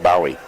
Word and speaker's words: Bowie: I guess it's Bowie. It's spelled Bowie, but he says it's pronounced Bowie.